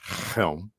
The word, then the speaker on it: Chelm: winter it's i think i believe it's actually pronounced helm at least that's how